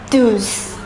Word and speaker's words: douze: The number 12 is pronounced as douze. Douze.